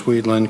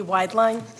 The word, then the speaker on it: Wideline: Wideline. It would be like the last potential pronunciation of that spelling, so I'm okay. Wide line like broad stripe.